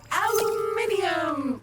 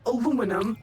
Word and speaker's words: aluminium: Aluminium! Or aluminum, as Americans pronounce it incorrectly.